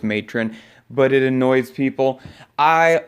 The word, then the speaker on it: Matron: number one pick Goblin Letran I always say it wrong I've been saying the name wrong since I first started playing it I know it's matron but it annoys people